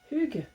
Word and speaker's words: hygge: avoir un mémo technique vous pensez à une gueule et vous prononcez pas trop trop le g et puis surtout vous vous mettez le le eu avec le son qui sort le hub but et pour la prononciation pub hughes ça y est maintenant vous